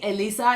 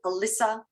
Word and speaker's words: Elisa: that say it correctly it's like me Lisa Mona Lisa all you have to do is sing and then you remember how it's spelled but people say Alyssa Alicia Alicia I get all sorts of weird and wonderful things but Europeans always say it right okay perfect I'm glad